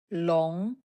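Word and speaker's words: 笼: water plus eye This character is long. long second tone long It means a cage.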